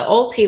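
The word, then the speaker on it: owelty: the case of the ulti lean and ulti is spelled o w l t y right it's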